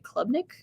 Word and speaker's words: Klubnik: Features current players such as Cade, I'm not going to say his name right, Klubnik? Do you know? Klubnik, yeah.